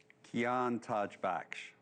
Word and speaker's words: Kian Tajbakhsh: First, pronounce your name, Kian, the right way for everybody. Kian Tajbakhsh.